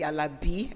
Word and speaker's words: Alabi: Laolu Alabi. See how I even emphasize the Alabi? I said it right.